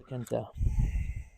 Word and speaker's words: Elecaenta: Elecaenta. That's how it's pronounced.